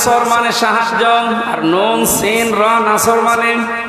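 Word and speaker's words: نصر: সাহায্য আর নুন সিন নাসর মানে কি পাখি আপনি যদি মুখটা গোল করে শুদ্ধ করে উচ্চারণ না করেন আকাশ পাতাল পাল্টিয়ে যাবে আল্লাহ পাক বলেন নবী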